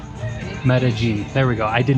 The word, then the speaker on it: Medellín: Medalene. I never say it right. Medigene. Medigene. Medigene.